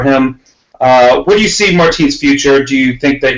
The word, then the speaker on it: Martins: Or Martinez, whatever. Martins. That's what it is.